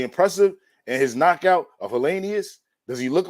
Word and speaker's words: Helenius: his knockout wood helenius how you pronounce my man's name always helenius helenius that's right helenius he's a nordicate you